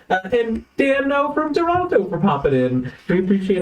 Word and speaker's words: Toronto: and dan now from toronto for popping in we appreciate all the extra inspirations uh daniel has informed me it's toronto not toronto yeah i'm not from